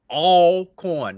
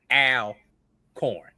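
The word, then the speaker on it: Alcorn: All corn is it is pronounced all co all corn. Not al corn.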